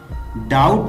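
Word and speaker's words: doubt: डाउट में जो बा साउंड है ये साइलेंट है, तो इसको ऐसे पढ़ेंगे डाउट मी।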